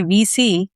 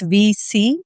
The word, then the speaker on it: WEC: For example, Chief focuses and when I say VC, it is Women Executive Circle, WEC, but we pronounce it as VC.